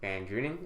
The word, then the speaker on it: VanDrunen: Today, I have a very special guest with me, Jack VanDrunen. Is that how you pronounce your last name?